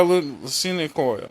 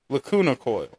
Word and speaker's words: Lacuna Coil: Our Truth by Lucina Coil. How do you say that name? Lacuna Coil.